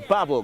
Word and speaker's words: Babel: Kwesi Kes Babel, or Babel, correction, is going to be taking this one. Second person I know with the first name Kes. Second person I know with the last name. But he pronounces his name differently. That's Babel, in fact.